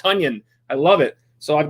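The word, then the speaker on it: Tonyan: the new way he wants it to be pronounced tanion I love it so I've got him on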